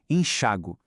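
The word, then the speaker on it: enxáguo: Embora as duas formas estejam corretas, aqui no Brasil é muito, mas muito mais comum a gente ouvir a primeira pronúncia com a força no a, sabe? Enxago.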